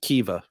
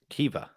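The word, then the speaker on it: Kiwior: to um to who my polish friends have told me it's pronounced Kiva Kiva yeah really yeah unless um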